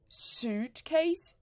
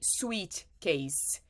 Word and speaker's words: suitcase: I see many Brazilians say sweet case no suitcase huge case suitcase huge case so sue Ed